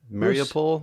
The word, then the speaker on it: Mariupol: I think the first lightning round will be Bruce's mini review or just thoughts on 20 Days in, I am mispronouncing this, Mariupol, I think. Mariupol?